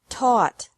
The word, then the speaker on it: taught: seek sought sought teach taught taught think thought thought remember that the G is silent in these verbs verbs with three different